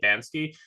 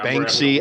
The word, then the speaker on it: Banksy: Is that how you say it, Bansky? But anyway, I'm trying to articulate something here. Banksy, I don't like.